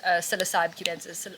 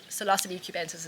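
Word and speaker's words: Psilocybe cubensis: Africa we mainly use cocy cubensis cilos cubensis is actually how it's said it's a really weird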